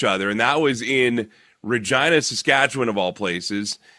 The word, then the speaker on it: Regina: I was thinking back to when we last saw each other, and that was in Regina, Saskatchewan, of all places. And Regina rhymes with angina, a very serious heart condition.